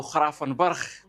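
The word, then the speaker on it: Gravenberch: الكوايريه ثلاثه ديال الرقايقيه كرافن برخ اولا نقولوا له خرافن برخ كل واحد يسميها بطريقه وينطقها كيف ما بغاه الدراري في هولندا كيقولوا لي را هذه كتقرا الجي كتقرا خا بحال هذك الجي في اسبانيا كتقرا خا ما عليناش فالفكره واضحه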